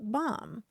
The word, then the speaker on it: BOM: bill of materials and the acronym for it is bom pronounced bomb well we heard from